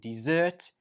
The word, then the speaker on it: dessert: Whereas this one is pronounced dessert, dessert, dessert, and the stress goes on the second syllable, dessert.